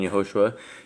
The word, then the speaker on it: Yahushua: Okay, well, let's just explain that, since we have two different It's Yahushua.